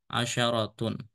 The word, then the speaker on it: عشرة: Tapi kalau ada tak marbutah, shinnya fathah, asyaratun.